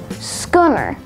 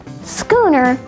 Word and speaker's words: schooner: word is schooner schooner has one alternate pronunciation schooner schooner is a noun of